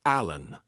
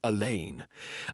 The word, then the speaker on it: Alleyn: I know it's Inspector Allan, not Inspector Elaine.